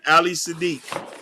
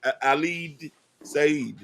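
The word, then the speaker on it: Ali Siddiq: How Nakapendo, How to Love the Black Woman, featuring Ali Sadiq. Ali Sad. I can't know how to pronounce the guy name. It's Ali Said.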